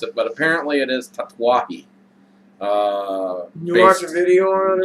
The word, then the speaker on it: Tatuaje: I was first looking into cigars, I was pronouncing this Tatuaje. And I know that a lot of people end up calling them tats because they don't want to try to pronounce it, but apparently it is Tatuaje.